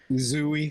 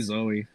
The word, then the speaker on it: Zooey: Zooey. Zooey Okay, Deschanel. yeah, good. Thank you. It's probably Zoe. Is it? It's spelled with two O's though, right? Yeah, I know, but it's probably That's Zoe.